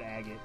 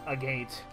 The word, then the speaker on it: agate: than calling a maggot i don't like saying the word agate really we're starting to say like a gate a gate sounds stupid too agate just sounds the best way to pronounce it in my opinion very